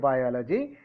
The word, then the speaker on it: biology: Biology.